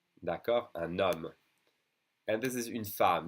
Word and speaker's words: un homme: So then I'm going to connect the N to the next vowel with an N sound. So un homme, d'accord, un homme.